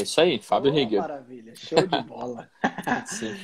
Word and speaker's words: Fábio Rieger: Eu pronunciei o seu nome direito, é Fábio Rieger? Certinho, é isso aí, Fábio Rieger.